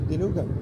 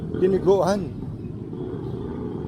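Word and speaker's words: dinuguan: oh, that's like sa diniguan. And then she said, yeah, dinugan. It's just the way she pronounced it. But it's diniguan. Diniguan. She just shortened it to dinugan.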